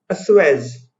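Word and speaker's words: assuage: इसके प्रोनाउंसिएशन पे ध्यान दीजिए, अस्वेज।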